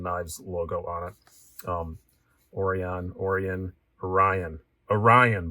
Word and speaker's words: Orion: logo on it um orion orion orion orion brian say that it rhymes with your name why do you keep